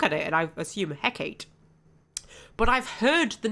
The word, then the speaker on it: Hecate: Hecate. More emphasis on the K and ending with an a sound.